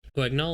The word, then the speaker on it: Guignol: Guignol, is that how you say it?